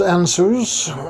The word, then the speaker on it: Ansuz: things on our own this run is pronounced anus it is a god